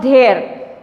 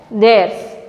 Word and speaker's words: theirs: It is there, it's there, not there, it's theirs.